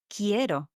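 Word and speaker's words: quiero: This is spelled qu u i e r o. Ko. It's like as it was written with K, but it's not. That's right.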